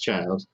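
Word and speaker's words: Childe: it's shielded or something it's pronounced child it's pronounced even in the japanese well the game is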